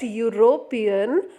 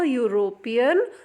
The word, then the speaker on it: European: over here the word European begins with a vowel letter e I hope you all remember the vowel letters a e i o u so European begins with E but the sound is consonant okay whenever we pronounce